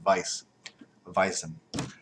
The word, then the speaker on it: Weizen: we i z and it's supposed to be pronounced Vice vison like Vice anyways people I'm actually getting a